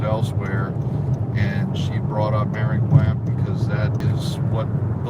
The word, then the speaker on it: Maringouin: I'm pronouncing it wrong. Maringouin. Yeah. Maringouin is a Cajun French word for mosquito.